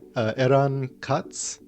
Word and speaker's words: Eran Katz: by and correct me if I say your name wrong eron cots yeah did I say close oh perfect I